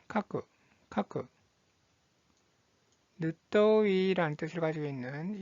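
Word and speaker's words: 書く: 자, 쓰다라는 뜻을 가지고 있는 이 한자의 발음은 카쿠, 카쿠.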